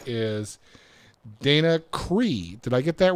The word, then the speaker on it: Cree: it okay day and your last name is pronounced Cree CRE C REE REE yep interesting I've never